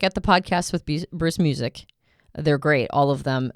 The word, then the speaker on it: Muzik: is to check out the podcast with bruce music they're great all of them it's spelled m-u-z-i-k so if you go to our